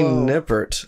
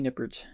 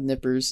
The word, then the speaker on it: Nippert: thank you thank you first off is that how you pronounce that yeah that's it nippert important thing nobody pronounces my name right and maybe i'm projecting i've been uh nippers and nippets and nippets nipples and everything my whole life oh yeah nip it's